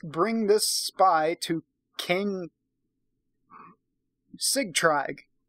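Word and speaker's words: Sigtrygg: this spy to Kay cig Tryg we're gonna pronounce that cig Tryg because it's spelled SI GTR ygg cig tried so yeah that's what we're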